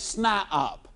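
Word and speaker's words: SNIOP: toe and he becomes what I call it snop now that's spelled s ni i o p and that's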